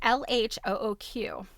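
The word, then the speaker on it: L.H.O.O.Q.: But basically, when you read these letters in, like, with the French pronunciation, it's Elle, which is she. And I think it's Achad Akul.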